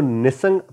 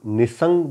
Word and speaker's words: Nissing: तो हमारे यहाँ पे सब लोग निसंग वर्ड कहते हैं, लेकिन वहाँ पे जाके मुझे पता चला कि असल प्रोनाउंसिएशन उस गांव का या उस कस्बे का निसिंग है।